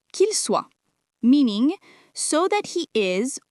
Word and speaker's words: soit: One of its fixed uses is repetition between two possibilities, soit this, soit that, means either this or that, and it is pronounced soit.